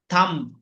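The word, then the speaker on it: thumb: বি যদি শেষের দিকে থাকে তাহলে এগুলো সাইলেন্ট থাকে। যেরকম আপনারা বলতে পারেন থাম, থাম।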